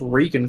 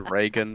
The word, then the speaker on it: Reagan: Lizzie Kaplan is Regan from Inside Job. You mean Reagan? But yes, Is it Reagan? yeah, it's Reagan. Ronald Reagan. Reagan. it is. that Cameron, brother. Cameron, it is spelt Reagan.